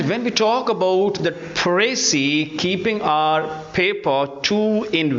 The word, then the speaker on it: précis: pry we know that it is pronounced in two different ways number one first one is singular and another one is plural singular is pronounced as pry and plurales phes no when we say pry